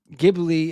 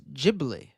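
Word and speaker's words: Ghibli: In Japan, Gibli is pronounced as Jibli.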